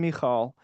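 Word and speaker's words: Michal: Um obviously so David and Mikall who you know growing up I always referred to as Michael right uh but they pr pronounce her name Mikall.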